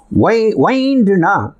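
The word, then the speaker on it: wind: விண்ட் அப்படின்னா காற்று, வைண்ட் அப்படின்னா சுற்றுறது.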